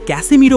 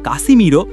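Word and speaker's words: Casemiro: ইতালির সংবাদমাধ্যম লা রিপাবলিকাকে দেওয়া এক সাক্ষাৎকারে ম্যানচেস্টার ইউনাইটেডের এই তারকা বলেন, সবাই আমাকে ক্যাসেমিরো বলে ডাকে কিন্তু আমার আসল নাম আসলে কাসিমিরো কাসেমিরো।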